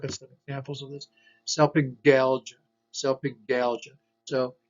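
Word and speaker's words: salpingalgia: Selpingalgia, selpingalgia. So here's a G followed by an A, selpingalgia, not selpingalgia, but selpingalgia. Selpingo means the fallopian tubes.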